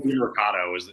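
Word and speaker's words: Demercado: Yeah, Amari DiMercato is how you pronounce it.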